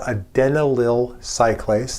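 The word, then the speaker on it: adenylyl cyclase: Nearby the G-proin is a membrane embedded enzyme, not a receptor, but an enzyme that's called a denal cylace. That is actually the correct pronunciation.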